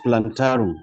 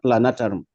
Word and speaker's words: plantarum: So what I'm saying, except if it is a different species, the right name is Lactobacillus plantarum, not plantarum.